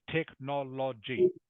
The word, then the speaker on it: technology: better technology technology technology you have to pronounce both the O sounds so it's technology technology okay all right